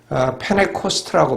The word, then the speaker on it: Pentecost: The day of Pentecost. 그런데 미국 사람들은 펜테코스트라고 발음하지 않죠. N자 나음에 나오는 T는 언제나 묵음입니다. 그러니까 페네코스트라고 발음을 하죠.